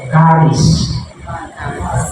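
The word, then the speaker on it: χάρις: Yung iba ang sinasabi, ang correct pronunciation doon ito, charis. Sabihin nyo, charis. Yan.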